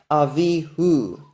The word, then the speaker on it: Avihu: So there's no dispute about this pronunciation, Avihu.